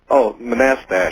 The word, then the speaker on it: Manastash: How do you pronounce the name of your town? Manastash? Manastash. Manastash. Right. That's right.